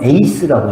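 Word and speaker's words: εἰς: 역 발음으로는 에이스라고 얘기합니다.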